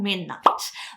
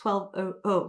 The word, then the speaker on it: 12:00: how to pronounce them so it's called midnight not 1200 so thank you all